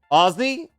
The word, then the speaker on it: Aussie: thought that was Vegemite don't say Aussie like that how should I say it what am I saying it wrong Aussie Aussie oh I need Z's sorry sorry I haven't